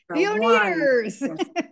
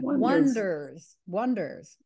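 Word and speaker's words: Oneders: And I remember, didn't The Wonders spell it the word one, ders? One. They were being yes. The Oneaters. Oneaters. Yes. No. One. Wonders.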